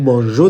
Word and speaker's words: mangeons: ای مو ځکه راوړی د جی تلفظ دپاره چې دا صحیح تلفظ وباسي. که چېرته دې سره موږ ای رانوړو دا به نو مانګو راشي چې کوم غلط دی. نو مانژو دپاره به موږ تاسو دې سره ای راوړو، صرف به تلفظ صحیح غږ ویستلو دپاره، او او ان اس